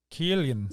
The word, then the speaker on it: Killian: Also, wait, many non-Irish fans, for some reason, believe it's pronounced with an S sound, but it's instead pronounced just like the anglicized spelling K. Killian.